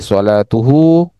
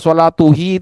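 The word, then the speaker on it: صلاته: Tapi kalau sebelum domir itu dhammah, dibaca hu ya, sholatuhu. Jadi dia menyesuaikan, munasabah ya, menyesuaikan dengan harkat sebelumnya. Karena bayangkan coba kalau dibaca sholatuhi itu sulit nggak kira-kira?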